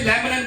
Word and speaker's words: laminin: Okay, खून के अंदर एक मॉलिक्यूल पाया जाता है जिसे लेमनिन कहा जाता है।